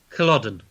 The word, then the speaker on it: Culloden: Do you want me to pronounce it? Go on then. Yeah. Culloden.